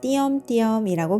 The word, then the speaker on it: 띄엄띄엄: 첫 번째 음절과 세 번째 음절에 자음 쌍디귿을 첫소리로 가지는 의가 있네요. 자음 쌍디귿의 무게를 버거워하는 의는 탈락하고 이만 남아 띄엄띄엄이라고 발음합니다.